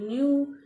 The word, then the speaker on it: knee: क्योंकि के के बाद N आया है, तो इसलिए यहाँ पे हम के को नहीं बोलते, नहीं प्रोनाउंस करते हैं, हम सिर्फ N को ही बोलते हैं। किसको बोलते हैं? N को ही बोलते हैं। क्यों? क्योंकि के बाद N आता है, और जहाँ पे के बाद N आता है वहां पे के साइलेंट हो जाता है।